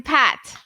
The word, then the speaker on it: Pat: There is a slightly difference in the pronunciation that you follow and that I follow. The T sound, we speak hard T sound. In India, we call it Pat.